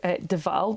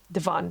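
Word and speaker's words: de Vaan: So the next question that I had was about Deval. That's spelled D-E capital V-A-A-N, Devan, sorry, and discovered that Devan is Michel Devan,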